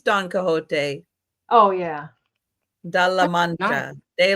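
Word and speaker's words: Don Quixote: And Don, how do you say that? Don Quizote. I don't know. Oh, that is Yeah, that is Don Cahote.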